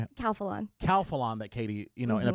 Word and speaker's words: Calphalon: Calphalon.